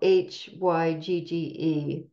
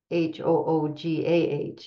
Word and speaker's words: hygge: That's spelled Hygge. It's a Danish word, concept, principle, but it's as she says, it's pronounced hygge. Hoogah is like it's pronounced that way.